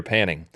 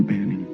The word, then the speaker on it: Banning: corporate lawyer that goes by the name Peter Panning. What's that? His name is Peter Banning? Are you sure? Peter Banning.